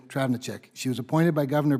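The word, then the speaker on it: Travnicek: Dr Driving a check we call her Trav you all will eventually it's easier to pronounce and spell but it is Dr Andrea travenerchuk she was appointed by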